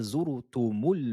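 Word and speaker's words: زرتم: Alhaakumut takathuru hatta zurtumul maqabiru. À vous. Aidez-vous de la phonétique si vous n'y arrivez pas. Masha'Allah. Alhaakumut takathuru hatta zurtumul maqabiru. À vous. Attention ici à la lettre zay, à ne pas prononcer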